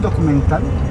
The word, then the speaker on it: documental: ¿Podemos filmar un documental? Un documental contigo. He points to his head. Mental. Documental. Got it.